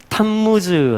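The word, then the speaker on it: תַּמּוּז: 이름은 뭐냐면요 담 무수 우리 개역 성경에는 단부 쓰라고 하고 원래 히브리 씩 발음으로 하면 탑 무 즈음 라고 합니다 탄 무주 자 한번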